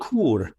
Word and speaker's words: Chur: It's called Chur. It's spelled Chur.